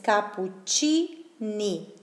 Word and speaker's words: cappuccini: Ok, entonces cappuccini, la CI, sonido de C.